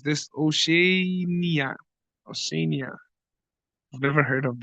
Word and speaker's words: Oceania: How do you pronounce this? Oceania.